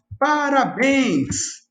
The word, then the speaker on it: parabéns: Assim como quando a gente fala parabéns. A última sílaba é a tônica e termina com em seguido de S.